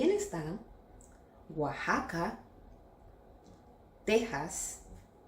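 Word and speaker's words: Oaxaca: Il y a aussi Oajaca, Texas, Jalapa. Ici il ne faut pas se laisser emporter par l'orthographe : bien qu'il s'écrive avec "x", il faut toujours le prononcer avec "j".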